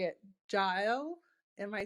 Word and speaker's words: Jael: And I would love to pass the mic off to, I'm going to try and say it, Jael.